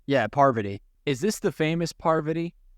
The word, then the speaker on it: Parvati: Yeah, Parvati.